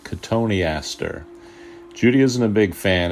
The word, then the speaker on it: Cotoneaster: She always made sure I pronounced it correctly, Cotoneaster.